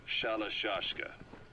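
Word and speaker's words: Shalashaska: By the time I got to hearing about it, pronunciation had wound up as Shalashashka.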